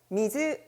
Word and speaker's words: 水: 그것 은 " 미즈 " 입니다 .